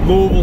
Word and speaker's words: Louisville: uh one and well maybe it's like a two-syllable word it's like Louisville all right that's how you do it that's how you do it folks that's how you pronounce it according to locals local yogas pretty cool